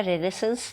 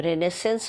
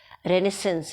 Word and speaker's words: Renaissance: तो सबसे पहले है रिनेसेंस था क्या रिनेसेंस सबसे पहले 1500 से लेकर 1600 60 तक के पीरियड को रिनेसेंस कहा गया है इसको आप रिनेसेंस प्रोनाउंस करेंगे इट्स नॉट रेनेसा रिनेसेंस है ये और इसकी एक स्पेलिंग